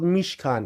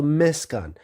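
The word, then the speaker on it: משכן: So in Hebrew, it's the same, but they pronounce se in current day Hebrew. So they pronounce it as she. So they call it Mishkan as opposed to Meskan.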